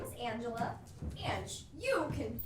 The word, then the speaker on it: Ange: hello my name is angela and you can call me ange it's simple and easy to pronounce who's got the time for ella it's really just the ange sound of orange and who doesn't like